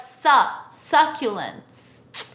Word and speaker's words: succulents: Just the same, succulent, succulents, not su, but succulents. Because in English, the sound of U é muito raro.